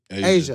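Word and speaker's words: A'ja: Nike received criticism because star, is it Aja? Aja Wilson? Asia. I always say it wrong.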